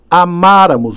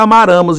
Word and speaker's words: amáramos: Essa é a pronúncia, pessoal. nós amáramos. Olha o acento aí. Esse acento não pode ser esquecido, senão fica amaramos, e amaramos não existe.